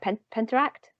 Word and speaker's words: Penteract: And I love, I'm hopefully I'm pronouncing it right, Penteract?